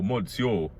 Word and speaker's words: monsieur: real name will purpose yo monsieur i'm not saying miss you i'm saying monsieur that's how you pronounce it oh you [